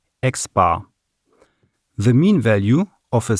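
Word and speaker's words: x̄: is the arithmetic mean the symbol for the arithmetic mean is an x with a horizontal bar above it it's pronounced x-bar the mean value of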